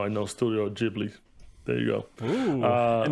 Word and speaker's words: Ghibli: was wondering if you were going to know how to pronounce this. Along with Studio Ghibli. Ghibli. Damn it. It's Ghibli.